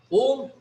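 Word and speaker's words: ॐ: Om is constituted of three sounds, three letters A, U, and M. In Sanskrit grammar, A and U coalesces to form O. Thus, A, U, and M together is pronounced as Om.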